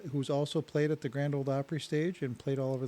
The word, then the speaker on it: Grand Ole Opry: O-L-E, not old. Okay. The Grand Ole Opry. That's a pet peeve of mine. Right, if you're going to say it right. Yeah, it's a pet peeve. Okay. I hate it when people say old Opry.